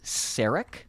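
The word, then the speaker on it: Sarek: just from seeing it it's called saric that is how it's pronounced okay okay and in this episode the crew meets a living legend spock's father saric sarick is a vulcan um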